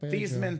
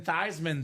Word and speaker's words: Theismann: I'm sure they mentioned the Thiesman. Theismann, though, Notre Dame pronunciation.